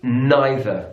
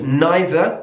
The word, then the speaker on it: neither: English the same with neither so it's neither in British English neither in American English personally I would say both neither neither related to